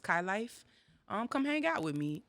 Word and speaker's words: Kai_LYFE: If you want to find me on Instagram, it is Kai_LYFE, pronounced Kai Life.